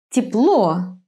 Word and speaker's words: тепло: In some words, the stress falls on the last syllable. Тепло.